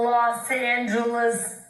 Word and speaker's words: Los Angeles: On the Los Angeles Lakers. That's a hard G. Los Angeles Lakers could be. That's a hard fucking G.